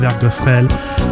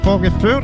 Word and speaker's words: Vorgefühl: This is das erste Werkgefehl des Ewigen, Sie haben zur Liebe. Bah non, c'est pas comme ça qu'on prononce. Hein? On dit, this is das erste Vorgefühl des Ewigen, Sie haben zur Liebe.